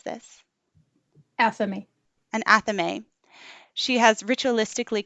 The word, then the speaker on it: athame: With her double-edged dagger, and how do you pronounce this? Athame.